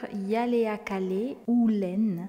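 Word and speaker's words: Ihaleakala Hew Len: le docteur ou là attention à la prononciation le docteur yaleakalé ou Len un psychologue hawaïien et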